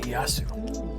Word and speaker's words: Ieyasu: Ieyasu. So the L is silent. Ah, okay. Ieyasu.